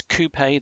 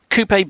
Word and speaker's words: Coupé: micro hence Sam and Coupe and yes it is Coupe that's the corect correct pronunciation with the uh the French style pronunciation um Coupe because from the side